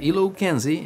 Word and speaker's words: ILOKNZI: for about a year I use the ELO Kenzie and yes that's how I'm pronounce that the Eloy teleprompter and